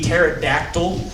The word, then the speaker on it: pterodactyl: You see, it's funny because you spell pterodactyl with a silent P at the beginning.